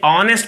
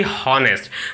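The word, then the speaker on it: honest: भी कॉन्सोनेंट है, नहीं, इसका साउंड जो है एच इसमें साइलेंट होने की वजह से ये ऑनेस्ट पढ़ाता है, न कि हॉनेस्ट, ठीक है।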